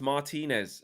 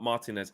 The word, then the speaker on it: Martinez: by the way guys it's martinez not martinez do you know what